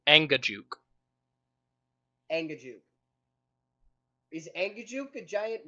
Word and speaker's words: Angajuk: up how do how do you say it properly Anga Juke Ang is anguk a